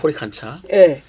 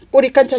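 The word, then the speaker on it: Coricancha: 그래서 여기 꼬리칸차 신전을 중심으로 해서 여기 여기 코리칸차라고 썼는데 코리칸차. 뭐 꼬리깐짜라고 읽어야 돼요. 네. 이 꼬리깐짜 신전을 중심으로 해서 사방으로 보면 뭐 이렇게 산맥들이 있다는 거예요.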